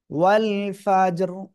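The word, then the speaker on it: والفجر: হবে সিম্পল অবস্থায় দেখলে চিকুন হয়ে যাচ্ছে কিন্তু আমরা ওয়াকফের সময় কি সাকিন হয়ে যাচ্ছে এবং তার ডাইনে সাকিন তার ডাইনে জবর এজন্য র টা আবার মোটা হয়ে যাবে মনে আছে আপনাদের ওয়াল ফাজর ঠিক আছে ওয়ালা ওয়ালা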